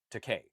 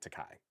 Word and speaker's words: Takei: Takei. Yeah, George Takei, not Takai. Yes, rhymes with okay, not Takai.